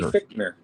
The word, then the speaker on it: Fichtner: How do you pronounce it? Randy Fichtner.